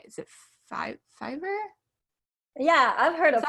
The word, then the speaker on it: Fiverr: Is it Fiverr? Yeah, I've heard Is of that right? Fiverr.